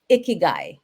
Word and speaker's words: Ikigai: Well, so what is Ikigai? Did I pronounce that correctly?